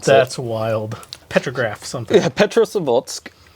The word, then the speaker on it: Petrozavodsk: But its first sighting was in the 70s, and it was in Petrozavodsk, Russia, in 77.